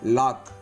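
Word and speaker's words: lock: சி வந்தால் அந்த இடத்துல சி சைலண்ட் ஆகுது அப்படிங்கிறாங்க. எக்ஸாம்பிள் பாருங்கள், கேக்கு முன்னாடி சி இருக்குதுங்களா, லாக். இதே இடத்துல பிளாக்லேயும் கேக்கு முன்னாடி சி இருக்குது. ஸோ அப்போ இந்த இடத்துல என்ன சொல்கிறோம், பிளாக். சிக்கு சைலண்ட் இல்லை, கேக்கு தான் ப்ரொனவுன்ஸ் பண்ணுறோம். அப்போது லாக், பிளாக், buck, கிளாக், acknowledge, acquit, இந்த மாதிரியான வேர்ட்ஸில் என்ன ஆயிடுதுங்க, சி சைலண்ட் ஆகிடுது.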